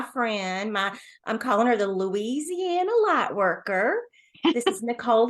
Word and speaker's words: Louisiana: Louisiana.